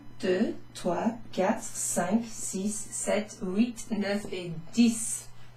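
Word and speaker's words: sept: cease cease s50 now this is a almost a silent piece set set well in Padgett is a silence he ate what was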